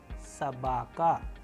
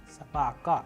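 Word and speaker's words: собака: The letter is known as S, S, as we have used in English approximation word S in soup, soup. A sample Russian word which we have used here so that you understand it properly is Sabaka, Sabaka, which means dog.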